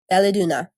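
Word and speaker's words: Val-ès-Dunes: coalition of rebels at Valeduna is how it Valeduna. I spelled it out phonetically.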